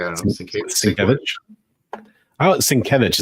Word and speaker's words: Sienkiewicz: Sienkiewicz is what I've always understood it to be, but when I was a kid, we always called him Bill Sienkiewicz.